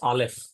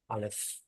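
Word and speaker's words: אלף: air from the gutters Alf Al Alf so it is a silent letter to remember it is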